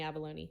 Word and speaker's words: abalone: I'm gonna have to go to South Korea to get any abalone. Like people dive for them, so it's expensive. I keep thinking that you're saying abalone, like abalone, like a bologna sandwich.